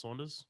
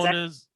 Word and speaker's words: Saunders: Just that's how you pronounce Saunders. Yep. Cool. All right, great. Joe And it's actually Saunders.